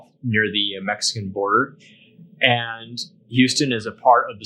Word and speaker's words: Houston: it's the name of the city itself it's pronounced Houston Q stun Houston this one you're just gonna have to memorize